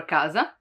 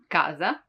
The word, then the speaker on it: casa: When K is followed by A, O, or U, it stays as a hard sound.